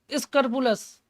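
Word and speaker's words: scrupulous: ईमानदार, loyal, straight forward, स्क्रपुलस। मैंने कहा था जिसका स्क्रू प्लस में कसा हो, भले ही स्पेलिंग PUL बोल रहा हूँ मैं, क्योंकि पढ़ते तो स्क्रप्लस हैं, क्या पढ़ते हैं, स्क्रप्लस, लेकिन मैंने इसको तोड़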